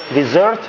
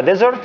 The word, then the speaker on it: dessert: dessert 2 S, لأنك لو نطقتها desert تبقى بإس واحدة يعني صحراء.